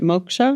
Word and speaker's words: Moksha: Moksha?